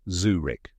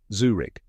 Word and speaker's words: Zurich: out correct pronunciation is Zurich let's break it down step by step first Zoo like the place where you see animals and Rick rhymes with brick but softer now say it with me Zurich one more time Zurich